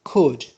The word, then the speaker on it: could: for reason another model verb which is could here l is silent is tata it is